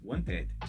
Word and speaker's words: wanted: vou falar no final, mas sim eu vou pronunciar agora porque já terminou em T. Então eu vou pronunciar o ed wanted.